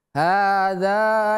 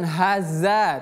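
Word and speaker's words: هَٰذَا: Hadza yaumul fasl. Hadza yaumul fasl. 1 2 3. Hadza yaumul fasl. Ingat ini ha besar. Ha yang ini dzal bukan za bukan haza tapi hadza. Dza.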